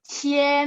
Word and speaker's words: 钱: 多少 32 钱 ingat Q bacanya Ci tapi ada angin ya Ci masih ingat JQX Q-nya baca Ci tambah IAN jadi cien nada 1 ini nada 2 cien uang ya cien 33